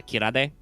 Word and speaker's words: Kirade: this work this is this brand name is probably pronounced out loud in marketing is uh kirade but i made it by applying kira the japanese like otomonopia for sparkle and aid which is the universal suffix for a soft drink i guess